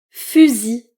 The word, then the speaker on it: fusil: Oui, fusil. Fusil. Le L encore une fois est silencieux.